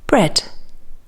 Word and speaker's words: bread: here's the finished bread bread e a spelling sounds like e in dead head red in the past ready and steady but of course the